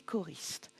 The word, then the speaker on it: choristes: Ici, le graphème CH va se prononcer K, comme dans une chorale, des chœurs et des choristes.